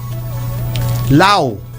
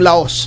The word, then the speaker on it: Laos: Law yung laos laos pero law ang ano eh pronunciation diyan.